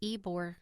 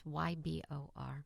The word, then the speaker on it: Ybor: new year's eve parade in ebore city i think that's how you pronounce it it's ybor i was gonna say